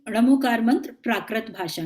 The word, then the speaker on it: णमो: एक तो जो इसमें 2-3 बातें, मैं णमोकार मंत्र की बात कर रहे हैं, तो उच्चारण में एक तो ण बोलने की आदत, न नहीं ण।